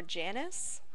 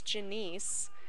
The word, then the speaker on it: Janice: It's actually short for Janice. Janice. Commonly mispronounced as Janice, which used to bother me, but now people, do it so much that it's just like, whatever.